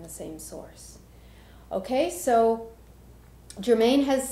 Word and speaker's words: Germane: channeled from the consciousness Germane. Just to be clear, Germane is not Saint Germain.